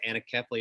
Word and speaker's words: anencephaly: Our child died of a condition called anencephaly, or some pronounce it anencephaly.